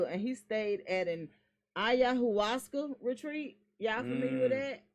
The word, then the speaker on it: ayahuasca: That's ayahuasca. That's how I pronounce it.